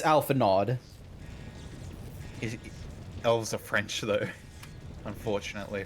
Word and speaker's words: Alphinaud: Yeah, I was gonna say, Alphinaud is pronounced, like, Frenchly. It's Alphinaud for me. I see the D. It's Alphinaud.